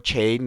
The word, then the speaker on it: Chaine: in deran at the Moses maida Stadium SEO chain yes that's how you pronounce his name Cho chain he saved three